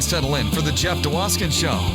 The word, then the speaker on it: Dwoskin: There's no duh. It's just Dwoskin.